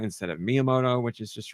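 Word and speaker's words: Miyamoto: Um, and I used to say myamoto instead of miamoto, which is just wrong.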